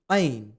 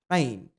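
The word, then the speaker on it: ع: इसके बाद आता है Ain. To pronounce it correctly, use the middle part of your throat, not the bottom or the upper part.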